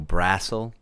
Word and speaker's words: Brassel: So it's like hassle, but with the BR. So Brassel.